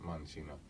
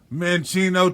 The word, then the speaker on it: Mancino: Lefty in Italian means Mancino, and it's pronounced Mancino. But like I will be saying in my upcoming commercial, when you buy it, pronounce it how you want to. Mencino to the hood streets.